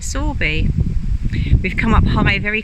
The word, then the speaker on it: Sowerby: we're at sorby bridge it's about like sowerby but the locals pronounce it sorby we've come up highway